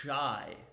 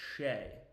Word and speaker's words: Shai: Okay, it's not Shai, it's Shay.